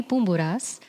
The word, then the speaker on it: Poumpouras: It's Evy Poumpouras, but in English or American, it's Pomporis or Pomparis or Pompoudoupis or whatever people want to call me, which it's fine.